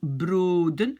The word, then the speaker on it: broden: Ok, donc je peux enlever un O, et ça se prononce broden, parce qu'ici, elle a la syllabe ouverte.